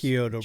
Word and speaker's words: Chiodo: Chiodo Brothers. Yeah. Chiodo Brothers.